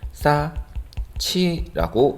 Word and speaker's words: 쌓지: 희응과 이번엔 지읒이네요. 희응 더하기 지읒은 치읒이었죠. 그래서 싸치 이렇게 발음을 해주면 되겠습니다.